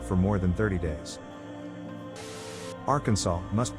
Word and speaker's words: Arkansas: with the finals silent, the A in each syllable with the Italian sound, and the accent on the first and last syllables.